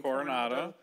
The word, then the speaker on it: Coronado: He was born in Coronado. I'm a Brit. Am I pronouncing that correctly? Coronado.